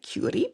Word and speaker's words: Chiuri: presumably is Maria Gracia Curis. Thank you for my Italians who helped me with that pronunciation. Still work in progress, but apparently it's a hard K. Cury.